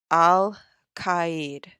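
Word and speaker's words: Alkaid: the star is called Alid Alid what does that sound like Al Qaeda y um it's spelled a l k i d and this particular star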